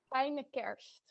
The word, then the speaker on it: fijne kerst: How to pronounce in Dutch? I'm curious. Fijne kerst.